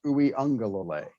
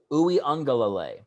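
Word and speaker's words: Uiagalelei: a ganglia a gunglier yeah the actual uh pronunciation of his name is ooey unga lalay ooh young go ooey angalalay yes all right yeah my wife's got a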